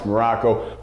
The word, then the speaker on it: Maroko: I am Coach Maroko, pronounced just like the country spelled, absolutely nothing like it.